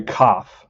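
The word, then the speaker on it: Kopf: so here's larry uh on the card it says cap with an f at the end but i'm not pronouncing that f i'm interested if you should pronounce the f and not the p or the p and not the f it's larry cough so um all right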